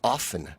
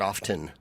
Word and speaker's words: often: It's often, not often. Oh, I tend to drop my T's, actually. The T's not pronounced, is my understanding.